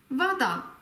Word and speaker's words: вода: Da die Betonung auf dem letzten A ist, spricht man das O als offenes A aus. Вода.